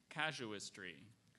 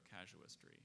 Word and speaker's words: casuistry: casuistry?